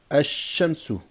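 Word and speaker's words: الشمس: wal lam rentre devant, le lam ne se prononcera pas. D'accord? Mais ce qui va se produire, c'est que nous allons par contre doubler cette lettre en rajoutant une shadda. Donc on va pas dire ash-shams, on va dire ash-shams, ash-shamsu.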